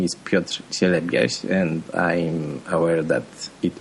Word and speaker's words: Piotr Cielebias: My name is Piotr Cielebias, and I'm aware that it may be hard to pronounce by people speaking in English, but also